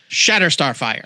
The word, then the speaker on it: Shatter Starfire: You have to say it like it's clearly one word. Shatter Starfire.